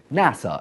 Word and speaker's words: NASA: Aeronautics and Space Administration is an acronym by the way not an initialism because we pronounce it NASA and not and a